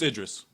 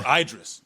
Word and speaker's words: Idris: a uh as uh what the with it's Idris it's Idris yeah I looked it up because